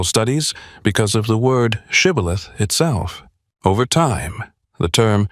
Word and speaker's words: shibboleth: According to the biblical account, the Ephraimites struggled to pronounce the word correctly and instead said sibboleth.